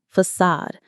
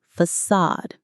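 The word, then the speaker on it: façade: This is a fantastic word borrowed from French. Facade. Let's say it with that soft ending. Facade. F A C A D E. Facade. The stress is on the second part. Sad.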